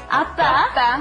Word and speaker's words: 아빠: 아빠. Appa. 아빠. Rhymes with oppa.